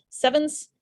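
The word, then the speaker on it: CEvNS: It's a Greek letter nu, which is pronounced like a V.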